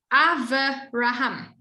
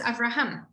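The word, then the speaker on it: אברהם: a verbal test and you said ava raham and the teacher said to you it's avraham you would be well in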